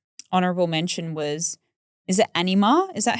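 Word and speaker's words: Anyma: Um I will say one um honorable mention was is it Anima?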